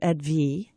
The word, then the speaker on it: Edwige: Her name is Dr. Edwige. It's like French, right?